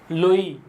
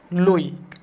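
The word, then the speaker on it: Loewy: দুইজন প্রখ্যাত বিজ্ঞানী লই এবং হচ্ছে একজন হচছে লই এবং সিকেভিচ।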